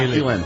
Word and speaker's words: Elin: Tiger Woods' ex Elin, is that how you say it? Yeah. Elin.